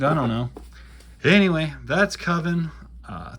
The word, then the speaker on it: Coven: don't know anyway that's coven uh 3 through six it's pronounced koven coven that's like oven never mind that's from